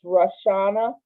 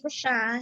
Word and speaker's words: Rashawn: Okay, if not, I will move on to, is this Rashana? Am I saying it correctly? Hi, it's Rashawn.